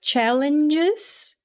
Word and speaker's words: challenges: Então, quando a gente fala challenges, a gente fala o E, challenges.